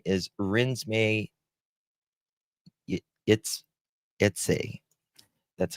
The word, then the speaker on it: Renesmay: Her name is Rinsme it. That's how you pronounce it.